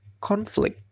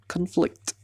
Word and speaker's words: conflict: As a noun, conflict akan dibaca conflict. Tapi jika sebagai kata kerja, maka dia akan berubah menjadi conflict. Ada perubahan dalam vowelnya.